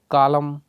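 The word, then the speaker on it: column: अगला combination MN, यहाँ पर N साइलेंट होता है, जैसे एलम, हाइम, कॉलम, यहाँ पर N को साइलेंट कर दिया गया है, लेकिन स्पेलिंग लिखते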